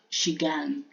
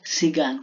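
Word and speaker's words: 시간: Halimbawa, shigan. Diba? Shigani 없어요. Ganon. Kung kung may ano ka daw, kung may time ka ganun. Shigan, hindi sigan, kundi shigan.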